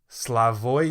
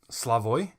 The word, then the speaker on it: Slavoj: I think I'm pronouncing that right, Slavoj, because J's are usually Y's.